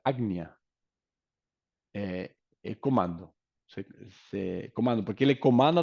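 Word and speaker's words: आज्ञा: Logo, o siguiente, o ágnea, que está entre as célias, as sobrancelhas, significa, ágnea significa agnia se pronuncia agnia, comando, comando, porque ele comanda a todos os demais, é o centro comando.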